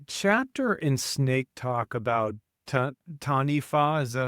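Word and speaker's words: Taniwha: The chapter in Snake Talk about Tanifa, is that how you say it? Tanifa?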